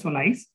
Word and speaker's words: SOLIZE: It is pronounced as SOLIZE.